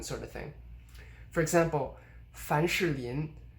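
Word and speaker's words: 凡士林: of thing for example fan sherlien fanshirlian i'm pronouncing vowel here they're sure this means vaseline and you can actually kind of say fanchalian you know just making the vowel in sure really short and i'm i'm not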